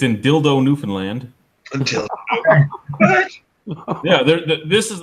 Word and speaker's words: Newfoundland: But anyway, Newfoundland, not Newfoundland. Newfoundland, fuck you. Okay. I've been saying it wrong.